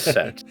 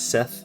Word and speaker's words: Set: Uh sometimes a sutek or set uh set sometimes Seth as well uh or spelled like Seth but still said set which is interesting kind of the silent H is sometimes just tacked on there.